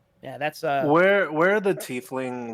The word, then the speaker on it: tiefling: And then scroll down to Tiefling, and then Oh, is Are- it pronounced tiefling?